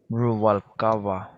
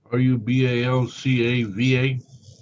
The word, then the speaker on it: Rubalcava: Rubalcaba. Rubalcaba. Would you like me to spell that for you, Judge? Rubalcava? R-A-V as in Victor. A-L-C-A-B-A. V, not B.